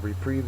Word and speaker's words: reprieve: two different pictures uh reprieve is a noun it's also a verb second syllable is accented uh a reprieve excuse